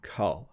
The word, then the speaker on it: color: And color just has a little bit of a slight difference to the beginning of the pronunciation, cull. It's cull, more like the verb to cull, which means, you know,